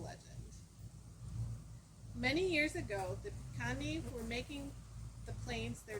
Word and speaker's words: Piikani: The Piikani tribe. And they were absorbed into the Blackfeet Nation. But it's originally the Piikani tribe. It's like picante, but without the T.